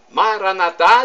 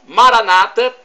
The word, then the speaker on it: Maranata: Maranatá dizem os católicos. Maranata, pronúncia com a tônica na penúltima sílaba, dizem os protestantes ou evangélicos, não importa.